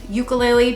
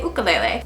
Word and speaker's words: ukulele: you make the decision i know i normally say ukulele just because people that are beginners often don't know what i'm talking about if i say ukulele but again both are okay and i think the